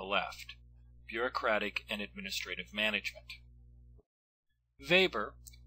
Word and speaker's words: Weber: Weber, notice that I pronounced the first letter of his last name as a V and not a W, lived in the late 19th and early 20th centuries.